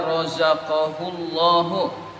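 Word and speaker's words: رَزَقَهُ اللّٰهُ: Itu insya Allah dibacanya rozaqahullahu. Itu bukan waw. Di sini pakainya waw. Rozaqahullahu. Iya, di sini ruqahu. Iya, yang betul rozaqahullahu.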